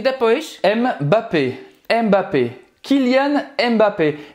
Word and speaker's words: Mbappé: Mbappé. Mbappé. Kylian Mbappé. E tem alguns jornalistas que falam só Mbappé. Kylian Mbappé. Kylian Mbappé, sem pronunciar o M.